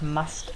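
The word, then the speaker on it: musth: And if you're wondering what must is, it's spelled M-U-S-T-H, and must is basically a period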